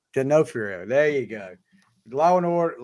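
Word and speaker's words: D'Onofrio: do you say his last name though Vincent genofrio genofrio there you go Law and Order Law and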